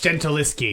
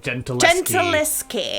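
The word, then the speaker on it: Gentileschi: Oh, it's Gentiliski. Bad. Says Horde Jedi. Gentiliski. Gentiliski. Thank you, Horde Jedi, for the pronunciation guy.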